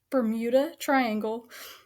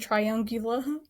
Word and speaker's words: Bermuda Triangle: That's how you say it. Bermuda Triangle. Girl, you said triangula.